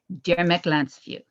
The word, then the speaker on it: Gyermekláncfű: There's always, the accent is always on the first syllable. So even when you have a word like Gyermekláncfű, it's Gyermekláncfű. So there you go.